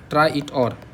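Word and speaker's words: traitor: आई टी ओ आर इसको ट्रेटरवेटर मत बोलो इसको बोलो ट्राई ट्राई वैसे तो सिंपल ये होगा ट्राई इट और ट्राई इट और ये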